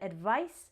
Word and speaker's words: advice: a z sound and advice has an S sound it's with no apostrophe